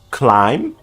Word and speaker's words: climb: Most silent B's come at the ends of words and just after M. Bomb, climb, come, crumb, dumb, lamb, numb, plum, thumb, tomb.